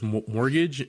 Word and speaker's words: mortgage: there is this reverse mortgage, and I just realized that this is my first time ever typing or writing down the word mortgage. Silent T in there.